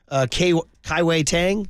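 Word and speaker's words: Kai-Wei Teng: I didn't even mention Kai-Wei Tang.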